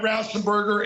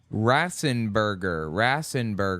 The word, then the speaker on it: Raffensperger: Horrible people like Brad Raffensperger in Georgia, Robin Voss in Wisconsin. Raffensperger, not Raff. What did he call him? Time. Horrible people like Brad Raffensperger in Rassenberger.